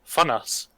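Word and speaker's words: Vonans: apparently it is pronounced German, so it is Fonas.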